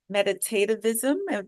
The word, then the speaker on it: meditativism: Yes, I want to understand your philosophy of meditativism.